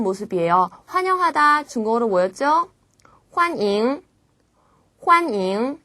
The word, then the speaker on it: 欢迎: 환잉. 예, 발음도 비슷합니다.